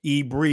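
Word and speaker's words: עברי: Ebri is what you say, how you pronounce it in the Israeli.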